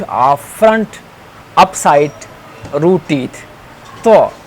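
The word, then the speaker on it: ط: Tho, this will be pronounced tho. Some people say it do, do. That is wrong.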